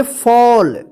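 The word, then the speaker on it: fall: पर एफ A double L इसको क्या पढ़ेंगे फॉल डब्लू A double L क्या पढ़ेंगे वल ठीक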